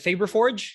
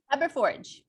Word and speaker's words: Fabberforge: And in this 3D Printed Profits episode, I have Anna with us from, is it Fabberforge? Is that how you say it? Fabberforge.